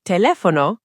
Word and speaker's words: teléfono: And teléfono, cognate alert. It sounds almost exactly like telephone.